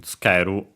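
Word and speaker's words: つける: Notice, by the way, the U barely heard if at all in tsukeru, because it's between unvoiced consonants.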